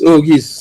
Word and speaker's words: Auguste: Let me ask him, Nigel, to pronounce his last name, because you know Auguste in Dominica is Auguis, so there's an I. His last name doesn't have an I. So is it the same pronunciation, Doc?